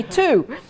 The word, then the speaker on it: two: research I realized that the pronunciation of the word has changed but the spelling has stayed the same so we that really